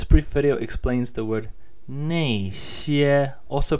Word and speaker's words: 那些: This brief video explains the word 那些, also pronounced 那些.